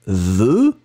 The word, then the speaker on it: veut: Il, elle veut, like we have here. V-E-U-T, final T not pronounced.